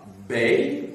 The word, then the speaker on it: bey: Vous aviez à Tunis un bey, B-E-Y, et vous aviez à Alger un dey, D-E-Y, un D, un B, un D. C'est pour être audible que j'ai prononcé en distinguant donc les voyelles.